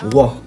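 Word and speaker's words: は: Ensuite, ce que j'ai vu, c'est la particule de sujet, donc qui s'écrit avec Ha, qu'on a appris dans l'alphabet, mais qui se prononce roi quand ça devient une particule de sujet.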